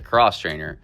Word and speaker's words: X-Trainer: The X-Trainer, Beta pronounces a cross traininer, is now in its